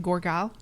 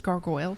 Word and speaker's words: gargoyle: And he always said Gorgile. Gorgile. Yeah, but it's not. It's gargoyle. So Fucking Jim.